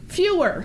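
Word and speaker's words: Feuer: I think it's Fuhrer, like in the Fuhrer. Fewer. But Fuhrer? Okay, thank you. Fewer, like fewer. Okay, Mike Fewer filed criminal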